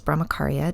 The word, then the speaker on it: brahmacharya: to not do and brahmacharya also known also pronounced as brahmacaria depends on how you pronounce it generally means conservation